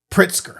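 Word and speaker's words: Pritzker: Pritsker.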